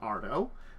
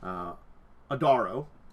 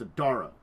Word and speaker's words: Adaro: custom ancestries for an Ardo. Adaro. I've been saying it wrong the entire time. It's Adaro. Apologies on that one. Adaro. I think I started correctly and this moved into Ardo.